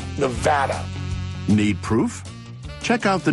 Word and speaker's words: Nevada: People mispronounce our state name all the time. You get the Nevada. That is like potato or patata. It's kind of like tomato and tomato. It is Nevada. Nevada.